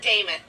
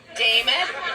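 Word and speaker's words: Demuth: And as your next nominee as a Republican for governor, my name is Lisa Dameth. I'm going to give you the easiest way to understand that. It rhymes with Joe Namath. Dameth, Namath.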